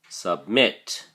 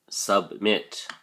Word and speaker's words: submit: Submit has 2 syllables, and the emphasis or stress is on the second syllable, mit. So we say submit, submit.